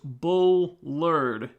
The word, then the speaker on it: Bullard: it uh let's see my name is pronounced bull lured Bullard okay all right sorry